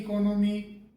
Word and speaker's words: economy: उस फला व्यक्ति की इकोनॉमी ऐसी है। तो ये इकोनॉमी जो शब्द है ये सही नहीं है। इसका जो सही प्रोनाउंसिएशन है वो इकोनॉमी, इकोनॉमी करके होता है।